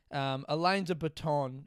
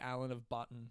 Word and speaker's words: Alain de Botton: But in my head, I say Alan of Button, which makes me laugh every time.